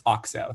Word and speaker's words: Okso: just feel like maybe we should listen to Zach's pronunciation. It's Okso.